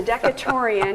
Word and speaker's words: Decaturian: And then the school newspaper, which looks more like a magazine, was the Decaturian? Is that the way that's pronounced? Yes, the Decaturian is still published to this day.